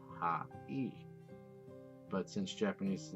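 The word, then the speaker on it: はい: The word hi is actually pronounced ha-e.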